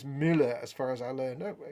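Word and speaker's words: Müller: um and ander says in german muller is mueller as far as i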